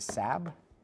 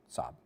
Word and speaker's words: Saab: Was it Sab or Saab? Okay, Saab.